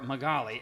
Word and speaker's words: Magaly: It's like, oh, Magaly. my golly. Oh, Magaly. That's a good way to remember it. I Googled in the search bar Magaly, M-A-G-A-L-Y space, your last name came up next.